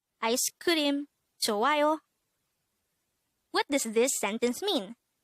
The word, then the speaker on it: 좋아요: 좋아요. This is pronounced as a three-syllable word. The first syllable is 조 with an H, followed by an A, followed by ayo.